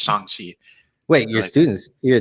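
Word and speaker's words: Shang-Chi: you have shang chi i gotta get used to saying shang chi because obviously he like literally corrected everybody in the movies yeah like this is not how you say it you say i love that i love that because all my life i've been saying the shank sheet right exactly um but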